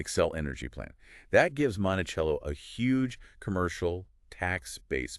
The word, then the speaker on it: Monticello: Let's look at Monticello again, pronounced Monticello, population around 14,000.